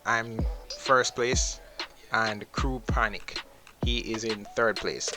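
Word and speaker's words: Pjanić: Crew Pjanic, not Pjanic, why do I keep pronouncing this Pjanic? Crew Panic.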